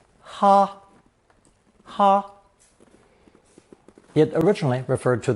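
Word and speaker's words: 哈: the mouth radical Co pronounce the first tone ha ha it originally referred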